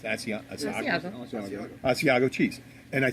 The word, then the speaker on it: Asiago: How do you pronounce it? Asiago.